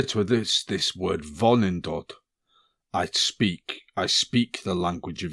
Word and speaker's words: Vonindod: Vonindod. Vonindod.